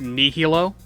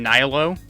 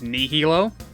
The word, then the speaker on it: Nihilo: As soon as you reach Ginza, you realize that it's under the protection of Nihilo. That's the proper way to say it. Up until, recently, everyone's been saying Nihilo. It's Nihilo.